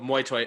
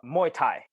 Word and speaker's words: Muay Thai: uh real quick I've heard of muoy it's muoy is that how you pronounce it uh Muay Thai Muay Thai I've heard